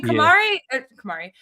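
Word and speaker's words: Camara: I always call him Cameron. I forgot how to pronounce his name. Oh, Kamar Tammani Kamar, one of my favorite role players.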